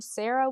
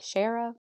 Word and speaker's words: Shara: is I kissed um I think you say her name Sarah Wheeler but it's spelled s h a r a like sharah I called her Sarah